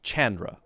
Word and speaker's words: Chandra: Hard C sound, so it's Chandra. I said it right the first time.